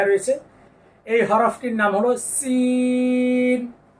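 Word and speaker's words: سين: এই হরফটির নাম হলো সিন এই যে দেখেন এই জিহ্বার আগা এই যে সামনের নিচে যা পড়েছি না একই জায়গা থেকে সিন সিন শেষে জিহ্বার আগা তার বরাবর উপরের তালুর সঙ্গে লেগে যাবে কেননা শেষে নুন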